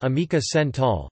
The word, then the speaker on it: América Central: Central America Spanish, America Central, pronounced Amica Central, Centroamérica Centroamérica is the